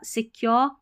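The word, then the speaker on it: secure: वह अपनापन emotional emotional से क्योर या सिक्योर सिक्योर ऐसे पढ़ना है सिकु नहीं पढ़ेंगे सिक्योर सिक्योरिटी आर आई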